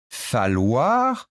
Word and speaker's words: falloir: J'ai bien dit falloir, ça prend deux L, ça se prononce comme si c'était un seul L.